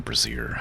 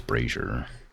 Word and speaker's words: brazier: I keep calling that a brazier. I don't know why I should always pronounce it brazier. I know it's braier and barrels signpost and trees.